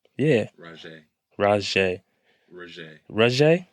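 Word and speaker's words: Rozhá: Raj. Raj. Raj. Raj. It's Raj. Raj. How do you spell that?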